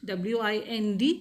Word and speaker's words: wind: the same but we pronounce it as wind w i n d it is pronounced as wind for the second meaning okay